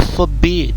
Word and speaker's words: forbid: Alors faut pas prononcer comme les Français, au fait ils sont trop ils accentuent ici au niveau de fort, en fait, pour ressortir le fait qu'il y a R pour dire forbid, mais bon en anglais